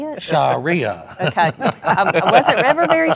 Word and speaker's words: Sharia: Sharia.